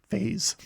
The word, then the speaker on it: Phaaze: Phazon itself, known as Phase. It's spelled Phaaze, but it's kind of a little bit of a lame name for the the home of the Phazon, just called Phase, but it's kind of funny.